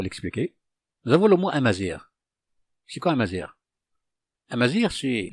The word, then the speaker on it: Amazigh: Amazir, ce mot, se prononce de cette façon, on le prononce de cette façon avec l'alphabet latin. Amazir, comme vous le voyez ici, Amazir.